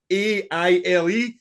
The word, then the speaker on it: Sgaile: No, but the thing is, I don't want to sound like a fucking Nazi here because it's SGAILE. Sounds like sea kale.